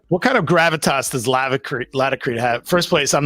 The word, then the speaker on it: Laticrete: I believe the right way to say it is Laticrete, because it's latex, Laticrete.